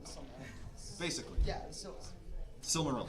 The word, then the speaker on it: Silmaril: Yeah, so Silmaril. how do you pronounce that? Silmaril. Silmaron? Silmaril.